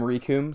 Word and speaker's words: Rikum: Yeah, I mean, I'm Rikum, so for those of you who don't know, I got my name because it rhymes with Doom.